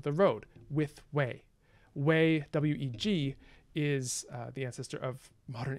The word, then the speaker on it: weg: road with whey way weg is the ancestor of modern english way w-a-y it's actually pronounced basically exactly the same although it looks a bit different okay an thought sumahi